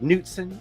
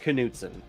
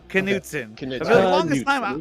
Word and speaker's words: Knutson: i don't know yeah how was it pronounced we pronounce it knutson knutson i thought it was constant and i was like